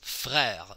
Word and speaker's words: frère: E accent grave, the R is at the end of a syllable. Frère, same thing.